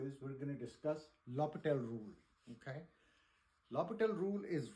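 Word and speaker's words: L'Hôpital: That's how they pronounce this in French, is L'Hopital rule.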